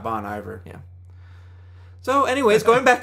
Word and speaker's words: Bon Iver: those of you who know that it's pronounced bonnie bear i'll whenever i'm talking about bonnie bear i'll say bonnie there we go we'll counter out each other and not bon iver yeah so anyways going